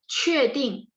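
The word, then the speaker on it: 确定: 确定 Q bacanya CH.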